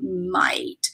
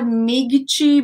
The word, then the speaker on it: might: But first, let's understand a little bit about might. So guys, not migichi, maigichi. There's no G in the pronunciation. It's might. Might, just like that.